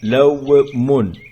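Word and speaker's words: لَوْمٌ: Lawmun. Le waw, ce n'est pas ici pour allonger lam, ce n'est pas pour faire lou, mais c'est une lettre avec sukun qui se prononce w.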